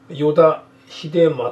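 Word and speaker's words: 依田秀正: いうね、これ依田秀正って読みます、これ依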